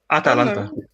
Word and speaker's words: Atalanta: All you need to do is there's just an A. There's an A after the T.